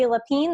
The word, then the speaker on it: Leppin: now over the years Lapine that's how you say your last name yes I always butcher it